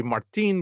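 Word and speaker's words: Martín: I say Martin because I see where the accent is, and what's his name? Gabriel Iglesias pronounces his friend's name that way. Martin.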